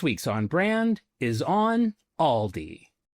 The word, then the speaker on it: Aldi: So, I dusted off the old Okay, full disclosure, the company says it's pronounced Aldi. I have said Aldi my forever.